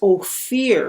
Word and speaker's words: Ophir: to king solomon and they pronounce it as oh fear because o fear is like light or gold okay and so the